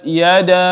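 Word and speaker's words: يَدَا: Yang kedua ada yada, ya, mad jaiz, ya, mad jaiz munfasil, maka dibaca 4 harakat, 5 atau 6 harakat, dibaca lebih panjang. Tabbat yada abi.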